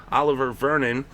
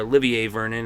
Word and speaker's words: Olivier Vernon: But then after the play, there was an unnecessary roughness call against Oliver Vernon, or Olivier Vernon as I've heard it pronounced.